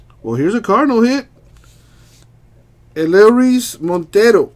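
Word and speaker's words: Elehuris: Eleris Montero. I think the H is silent on that.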